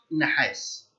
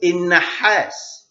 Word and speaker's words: نحاس: أيضا في منجنيز، في نحاس، والنحاس باللغة العربية ينطق نحاس، في ناس بتقول النحاس، في عنصر نحاس هو معلوش شدة اسمه نحاس.